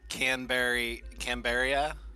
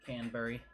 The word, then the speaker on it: Canberra: that in this would hit Canberra and Sydney and then work its way up It's to pronounced- Brisbane. Canberry. It's Canberra. Canberra. Canberra. Hey, you got that Canberra? Canberra. It's not Canberra, it's Canberra.